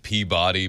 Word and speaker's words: Peabody: It's spelled Peabody, but it's Peabody.